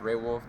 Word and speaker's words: Xray Wulf: It's actually pronounced Raywolf. The X is silent.